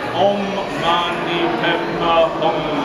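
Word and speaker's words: Om Mani Padme Hum: mantra, his prayer, which is very simple, it's pronounced by them Oṃ Maṇi Padme Hūṃ, Oṃ Maṇi Padme Hūṃ.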